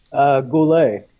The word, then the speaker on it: Goullet: how do you say your last name Oscar Goulet ask a blue lake also cool a also